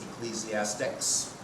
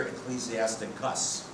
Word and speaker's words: Ecclesiasticus: A real long one is the Ecclesiasticus, or the Wisdom of Jesus Sirach. So we have Ecclesiastes, which some people wrongly pronounce Ecclesiastics. So we have Ecclesiastes, and here Ecclesiasticus.